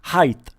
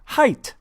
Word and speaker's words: height: height is not pronounced height it is pronounced height it's h-e-i-g-h-t not h-e-i-g-h-t-h and that's goof on university class 100.